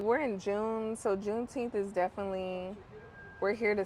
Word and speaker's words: Juneteenth: So Juneteenth is when? June 19, 1-9, Juneteenth. Not 10th, 1-9.